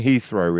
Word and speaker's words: Heathrow: Israel then Ichi was in Milan uh it's pronounced uh Heathrow do you mean Heathrow in London yes yeah Heathrow Heathrow yeah yeah